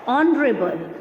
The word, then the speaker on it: honorable: What is the pronunciation of this word? Our, honest, honorable. We cannot say honorable, honest and hour. Obviously H is silent in these words.